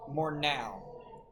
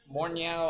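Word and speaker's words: Morneau: The last the last player uh to do all 163 games was Justin Mornau. Morow I think is how you say.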